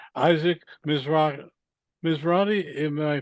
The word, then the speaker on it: Mizrahi: Mizrahi, am I pronouncing it correctly? Yes, Mizrahi.